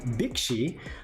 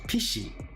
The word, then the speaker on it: Bixi: So gang, I will go into today's mythology, the backdrop for this entity called Bixi. I think the actual pronunciation goes Pishi. PC, maybe.